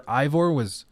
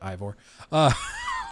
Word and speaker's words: Eivor: bug that happened where Eivor, it depends on if you guys want to make fun of me for pronouncing it as Ivor, where he was drunk.